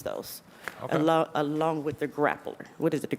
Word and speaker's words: Grappler: we can use those Al along with the grappler what is it the grippler am I pronouncing it I'm sorry grippler for high Pursuit